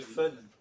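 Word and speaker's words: foehn: bon, c'est l'effet de fun. J'espère que vous avez apprécié le jeu de mots. Effet de fun, ça s'écrit F-O-E-H-N. L'effet de fun, c'est un truc qu'on a déjà vu.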